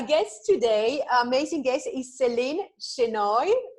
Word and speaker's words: Seline Shenoy: So our guest today, amazing guest, is Seline Shenoy, right? Do I pronounce right? That's right. Yep. Seline Shenoy.